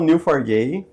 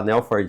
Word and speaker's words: Neo4j: já, hum, a origem do New for J é o New do Matrix.